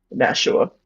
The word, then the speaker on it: Nashua: Is that how you pronounce it? Nashua? Nashua.